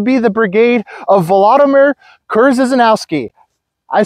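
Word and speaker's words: Krzyżanowski: is going to be the Brigade of Vladimir kurz zanowski I said it right Mark that in the comments guys I said kurz zanowski correct I'm going to say it right every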